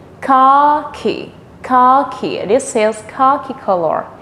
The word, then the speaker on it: khaki: Et en anglais, on dit, in English we say khaki, khaki, khaki. This is khaki color. The pronunciation is different, but the way of writing is the same.